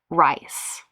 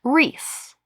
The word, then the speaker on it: Rhys: I read it rice. She But it says, "My son is named the spelling like Reese."